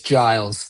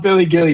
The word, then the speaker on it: Giles: Um, it's Giles. That's how you pronounce my last name. Giles. It's not It's not Billy Gilly.